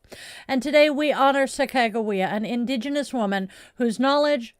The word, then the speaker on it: Sacagawea: I know so many people who mispronounce her name as Sacagawea. I was corrected by one of her descendants. It is Sacagawea. And today we honor Sacagawea, an indigenous woman whose knowledge, courage, and guidance